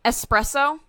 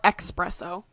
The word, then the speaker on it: espresso: really don't like um espresso doesn't have an X don't call it expresso expresso expresso also um